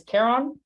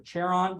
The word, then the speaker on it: Charon: the Moon's name is Caron or Caron or Charon depending on how you want to pronounce it um there's another one